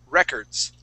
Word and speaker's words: records: I'm gonna highlight here this word is records with the accent at the very beginning records so it's records records